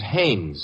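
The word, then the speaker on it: Haines: Hines used to fish out no no not Hines hannes couldn't be Huntingburg no it couldn't be the name is hannes h a i n haes give me your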